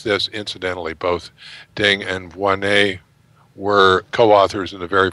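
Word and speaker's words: Voinnet: That's the EMBO, is the European Molecular Biology Organization, where Xu Wei Ding and Olivier Vonnet, how do I pronounce that? Vonnet.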